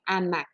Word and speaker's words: hamacs: Non, tu vas vraiment dire les hamacs. Donc, ça vient t'indiquer que hamac, ici, ce n'est pas un H muet, c'est un H aspiré.